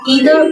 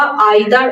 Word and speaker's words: either: অর্থাৎ নিদার নর এবং ইদার অর নিয়ে আলোচনা করব। নিদার নর অথবা নাইদার নর, ইদার অর অথবা আইদার অর দুভাবে উচ্চারণ করা যায়।